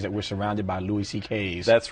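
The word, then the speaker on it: Székely: My Hungarian grandfather's name was C.K., but it's spelled, it looks like, it's a mess. It's S-Z-E-K-E-L-Y, and it sounds like C.K., though.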